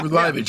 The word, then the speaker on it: Liveage: It's the Descendants' Liveage. Yes, I'm pronouncing that right? Yeah, Liveage, yeah.